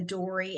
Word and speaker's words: Doree: r e um and it is pronounced dory like yes like finding finding Nemo finding Dory.